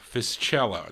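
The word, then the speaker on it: Fiscella: his name is Sandy fish Ella fish cello that's how you say it in Italian or fisella f-i-s-c-e-l-l-a now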